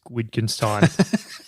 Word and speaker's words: Wittgenstein: quote by ludwig which wittgenstein he said the limits of so i think the w is like a v pronunciation that's all right it's